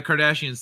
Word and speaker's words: Kardashians: I forgot I was pronouncing it wrong. Yeah, the Kardashians.